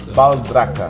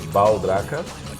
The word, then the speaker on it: Baldracca: Baldracca. Baldracca Yeah. is in Italian. Yeah, it's an Italian word, yeah. But I'm Brazilian, and we have a different pronunciation that we say Baldracca.